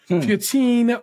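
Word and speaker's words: feuilletine: That is a French-ass word, and it's a difficult pronunciation.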